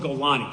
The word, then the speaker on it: Golani: There's no Golan brigade. It's called Golani.